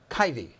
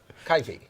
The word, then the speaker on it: Kaifi: sitting here on my left I hope I pronounced your your name right now doctor dr. kitey kitey right right is that close enough no it's